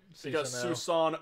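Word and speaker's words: スサノオ: really fun to say Susanoo oh it's literally Susanoo ' Oh sano Oh is the pronunciation but like um atrocities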